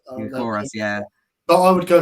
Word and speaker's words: Gyökeres: But for me, and I know the Coventry striker, how do you pronounce his name? I know who you're talking about. It's Gyökeres. Gyökeres, yeah.